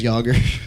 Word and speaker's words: Jagr: Like Jaeger. Like It's- as in Jaeger bomb.